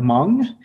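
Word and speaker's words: Hmong: of 12 kids um my parents are M which is spelled KH sorry it's hm o n g that's my background M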